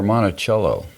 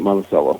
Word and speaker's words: Monticello: Crossroads Church in monello is it monacello or monachello no we we pronounce it monacello monacello okay and monacella there and uh you